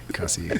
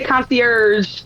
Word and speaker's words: concierge: concier to pronounce the correct pronunciation is concier.